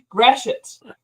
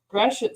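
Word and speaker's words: Gratiot: always brings it up grash it grash it straet I feel like it' be grat or something I know and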